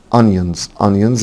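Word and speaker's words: onions: ليمون ليمون يعني تمر انيونز انيونز خلي بالكم حبايبي ان الاو هنا بتنطق اهيونز يعني بصل يعني بلكونه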